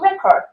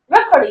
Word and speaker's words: record: Now how about record? Record is a noun, and record the verb, like digest, right?